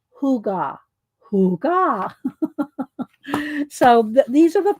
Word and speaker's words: hygge: And it's pronounced hygge.